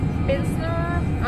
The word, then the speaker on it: Pilsner: Comment ça se prononce? Pilsner. Pilsner.